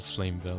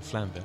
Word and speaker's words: Flamvell: Est-ce qu'on dit Flamvel ou Flamevel? Flamvel. Flamvel. Parce qu'il n'y a pas de flame, sous-entend qu'il y a une syllabe à la fin du mot.